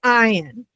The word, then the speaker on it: Ayin: Ian looks like a Y and sometimes you will hear me say the Y and I always have to correct myself. It is Ian and Ian um kind